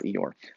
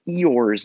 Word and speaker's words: Eeyore: today governor governor governor they dropped the r so actually as americans we are mispronouncing eeyore's name the r in eeyore is silent what is your's name